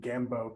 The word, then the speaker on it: Gambeaux: from yeah um and thank you for correct uh correctly pronouncing it because i'm studying and listen we are we i am a studied learned human i have class i know that that's bo somebody knows french like and it's not french but i wanted the pronunciation to be that way and i didn't want